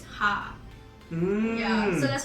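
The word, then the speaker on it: ห้า: five four five right five is ha yeah so that's how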